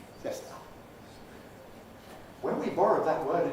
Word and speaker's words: siesta: So the word that's spelled like that in Spanish is pronounced siesta. Una siesta. Siesta. When we borrowed that word into English, well, we feel this has got to have three syllables.